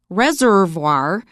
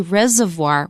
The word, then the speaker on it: reservoir: say cat pillar and you notice that Reservoir we often say Reservoir we don't pronounce the first R so for tomorrow we